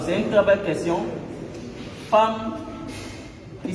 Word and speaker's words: femme: Femme qui s'écrit F-E-2-L-E, qu'on ne dit pas femme ou femme. On aurait pu écrire avec A.